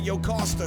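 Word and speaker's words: Jocasta: and none other and that yoosta whose name rhymes with pasta marrying her it came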